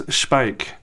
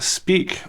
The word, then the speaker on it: Speick: So you may ask yourself, what is Speick? And why isn't it Speak or Speck? Well, that's just the German pronunciation.